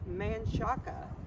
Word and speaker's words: Menchaca: area first one is manshack it's spelled and should be pronounced manchaka named after a man